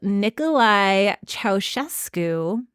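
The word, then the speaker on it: Ceaușescu: In 1962, Nicolae Ceausescu, look at me with that pronunciation.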